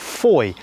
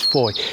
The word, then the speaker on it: Fowey: gonna catch the bus to the town of foye yes that's the correct pronunciation it's actually spell f-o-w-e-y so it looks like it's fourier but it's foi beautiful ancient market town right by the river